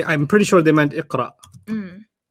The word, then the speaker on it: Iqra: And I'm pretty sure they meant Iqra, Mm.